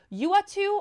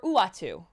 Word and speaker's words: Uatu: for the 50 bits the watcher's name is pronounced either uatu or uwatu okay no i know